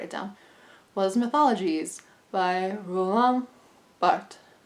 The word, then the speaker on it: Roland Barthes: down, was Mythologies by Roland Barthes. That's how French people say it.